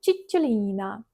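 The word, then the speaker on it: Cicciolina: My mom knows Italian, so I asked her to train me to teach me how to say her nickname like Chichulina.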